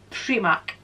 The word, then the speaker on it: Primark: i'm not mispronouncing it this is how we pronounce it in scotland free mark and i'm not changing